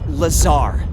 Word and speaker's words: Lazar: blazer rangers this is laser blazer a researcher in our rmd department and its sales liaison it's lazar actually accent on the tsar but yes i'm your